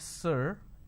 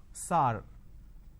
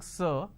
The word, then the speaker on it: sir: changes of this word majority of the people pronounce the word sir as sar sar can you please answer my question so instead of saying sir they say sar so this is a